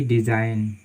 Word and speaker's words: design: ठीक है, जैसे कि डिज़ाइन, DESIGN, तो यहाँ पर भी जो है जी हमारा वो साइलेंट है।